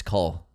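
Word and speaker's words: Knull: K-N-U-L-L. K-N-U-L-L. No, U-L-L, not O-U-L-L. It's a silent N, it's Cole.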